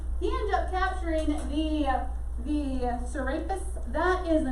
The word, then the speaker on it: Serapis: Yeah, so I had to look up pronunciation for it to make sure. So yeah, Serapis, that's the name for it.